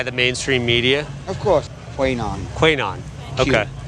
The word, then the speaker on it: QAnon: They say QAnon. I consider it Quanon because the A is silent. Which A? The second A.